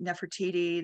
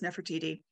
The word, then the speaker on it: Nefertiti: by a German archaeological team um this is Nefertiti her name is pronounced many many ways I personally say Nefertiti there's na na Nati but I use Nefertiti um and it is believed to have been